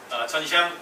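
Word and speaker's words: 沉香: 중국 분들은 대부분 침향을 알아요. 전샹 그렇게 발음해요. 전샹.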